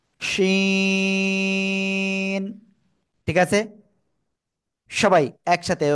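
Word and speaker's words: ش: নাম কি সাব্দ করে তিন আলিফটা নিয়ে আমরা এই অক্ষরটা উচ্চারণ করব শি শিন ঠিক আছে সবাই একসাথে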